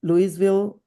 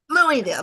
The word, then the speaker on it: Louisville: recruited to teach in Louisville. Louisville Mhm. or Louisville, Kentucky? Louisville. Louisville, Kentucky. Louisville. Louisville. There you go. Thank you. Everyone says it wrong. It's all right. Louisville.